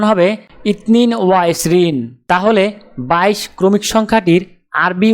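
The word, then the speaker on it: اثنان وعشرون: আরবি ক্রমিক সংখ্যা 22 দেখতে এরকম, উচ্চারণ হবে ইতনিন ওয়া ইসরিন।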